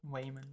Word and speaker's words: Waymond: why I said I mean how do you spell that name Wayman uh it's w-a-y-m-o-n-d Wayman oh the names in this movie are [